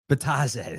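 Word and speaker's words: Bitadze: Um, and in terms of bigs down low, is it I always say his name wrong. Tis Bataz. Betaz.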